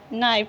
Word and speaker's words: knife: द नाइफ, ठीक है। द THE को हम दा पढ़ेंगे। द, ठीक है। KNIFE को हम नाइफ पढ़ते हैं। KNIFE को हम नाइफ पढ़ेंगे। इसमें के साइलेंट है।